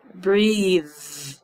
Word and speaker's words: breathe: But if I say breathe, I can feel the vibration in my throat. Breath, no vibration. Breathe, I can hear. Very good. So that's called voiced or voiceless.